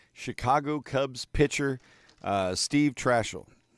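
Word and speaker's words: Trachsel: Chicago Cubs pitcher uh Steve Trashel. It's pronounced Tricelle Trashel.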